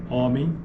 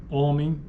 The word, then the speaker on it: homem: vogais tônicas orais né Em certas variantes Paulistas algumas formas como homem e fome são pronunciadas com vogais orais homem e fome formas como homem fome apresenta tipicamente uma vogal nasal na maioria dos dialetos do português homem fome é verdade